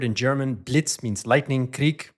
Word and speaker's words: Krieg: So literally, of course, the word in German, Blitz means lightning, Krieg means war, Krieg, if you're from Vienna, shout out to the Viennese out there. Good Austrian pronunciation there.